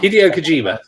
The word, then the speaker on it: Hideo Kojima: And Hideo Kojima, I can't pronounce his name. Kojima. Hideo Kojima.